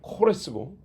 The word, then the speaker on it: 고레스: 고레스. 서양 사람도 이 사람을 키루스라고 합니다. 키루스. 본래 발음은 코레스고 우리는 부드럽게 고레스라고 영어식으로 키루스라고 그랬는데 키루스 대왕이라고 합니다.